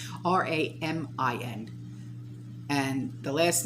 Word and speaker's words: Ramin: So, the Assistant Secretary for Economic and Business Affairs, by the name of Ramin, not the noodle, Ramin, and the last name, I'm not even going to try and pronounce it, it's Toloui.